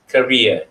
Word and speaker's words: career: to homelessness okay this word over here the pronunciation is similar like the kuwait career is career not caring okay the spelling for canada is